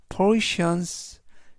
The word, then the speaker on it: portion: 이때 강세는 앞에 있는 강세가 있어서 portion portion이라고 발음하시면 되겠고요.